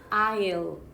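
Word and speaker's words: aisle: eyes 이렇게 읽을까? eyes? 제일 많이 대답하는 게 eyes 이거든요. 그런데 S 발음이 안 납니다. I'll 그냥 이렇게 발음해요.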